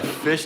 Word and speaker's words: Fisch: Dad, it's Fish and Chips, but it's spelled FISCH.